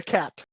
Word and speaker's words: xat: Zack or I sorry a cat but it's spelled xat and pronounced KH 80 I'm gonna look at